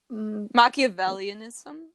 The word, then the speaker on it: Machiavellianism: much since february and what'd you get from machiavelliaism is that how you say it machiavellianism yeah let's explain what that is manipulated manipulate